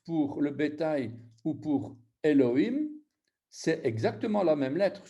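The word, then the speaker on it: אֱלֹהִים: Ben voilà, donc vous avez, eh bien, c'est ces points-là qui vont faire qu'on dit Elohim et pas Aloïm.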